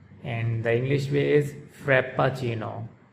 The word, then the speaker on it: Frappuccino: it's pronounced by Americans Frappuccino, frap-puh-CHEE-noh, Frappuccino. And the Italians, they pronounce it Frappuccino, frap-puh-CHEE-noh. So the Italians, they pronounce double P, frap-puh-CHEE-noh, frappuccino. And the Americans, they pronounce it like single P, frappuccino.